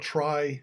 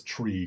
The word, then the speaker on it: trie: idea of a try I call it try it's actually I think that's a standard way people pronounce it originally comes from the word retrieval TR ie from the middle of retrieval uh so the author's claimed it as but nobody says tree cuz I would be